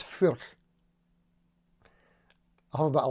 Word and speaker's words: Furch: And I know how to pronounce it, by the way. It's Furch.